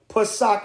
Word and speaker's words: Pesach: Pesach in the ancient Hebrew, P-A-S-A-C-H, Pesach. All right, that's how you say it in the ancient Paleo Hebrew.